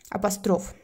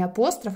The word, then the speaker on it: апостроф: Апостроф. Кстати, не апостроф, а апостроф. Правильно говорить.